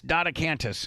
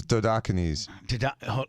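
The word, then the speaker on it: Dodecanese: Dan, did he pronounce it right? It's Dodocanes.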